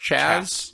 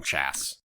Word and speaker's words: Chas: Tort C H A S, but I think it's pronounced Chaz, but we're going to call him Chass.